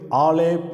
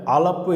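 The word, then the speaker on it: אלף: எழுத்தை நாம் எழுத போகிறோம் இந்த எழுத்தை ஹீபுருலையும் ஆங்கிலத்திலேயும் ஆலேப் என்று உச்சரிக்கிறோம் தமிழ்ல அலப்பு என்று உச்சரிக்கிறோம் இந்த முதல் எழுத்து தேவனை அடையாளப்படுத்துகிற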